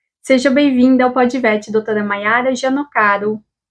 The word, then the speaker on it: Mayara: E como é que se pronuncia o total disso? É Maiara Gianocaro.